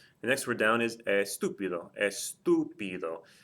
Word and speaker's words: estúpido: Again, if I break the word down into its syllables, I have estúpido. Notice that the TU is the third or more syllable from the end, so there has to be a written accent mark there.